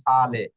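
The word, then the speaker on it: sale: বোকালের যেকোনো একটা বোকালে থাকলে এস এ অক্ষরের উচ্চারণ জ এর ছয় এর মত হবে এই যে দেখুন সালে হ্যাঁ এই যে দেখুন এস এ হচ্ছে প্রথম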